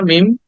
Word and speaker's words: meme: যে ফেসবুকে দেখো না মিম দিস কলড মিম উচ্চারণটা হবে মিম ফাস্টে যে ইটা আছে এটাকে বাদ দিয়ে দিতে হবে মিম কি উচ্চারণ করবে মিম ওকে দ্যা নেক্সট ওয়ার্ড